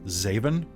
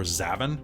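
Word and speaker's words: Xavan: dad is x-a-v-a-n which to me is is zaven or zavin yeah what sounds what sounds more like Flash Gordon Emperor seven Emperor zaven zavon was it x-e-v-a-n-x-a-v-a-n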